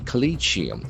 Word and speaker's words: Collegium: The letter O has got a sound. Collium. Collium. As we know the letter C can have either hard C sound or soft S sound. Here it is C sound. Collium. Collegium. There are four syllables. Collegium. Colleium. The accent falls in the second syllable.